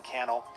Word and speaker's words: Cannell: My name's Sean Cannell, Rhymes with YouTube channel, and I look forward to seeing you in a future episode of the Think Media Podcast.